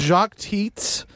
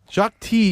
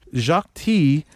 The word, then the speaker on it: Jacques Tits: uh i love your work his name was jacques teats jacques t you don't you know i guess you don't pronounce the consonant in uh the last consonant in french jacques t the mathematician behind the t building the t